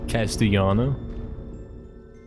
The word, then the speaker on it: Castellano: Pronounce the double L like a strong Y. Castellano.